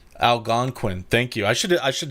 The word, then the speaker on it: Algonquin: How do you pronounce that? Algonquin. Algonquin.